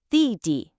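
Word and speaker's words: 弟: Di is fourth.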